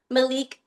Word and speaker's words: Malik: Malik, but even though it's spelled like Malik, it's Malik."